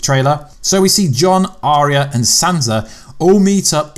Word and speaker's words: Arya: Yes, that's how you say it. It's not Arya, Arya Stark.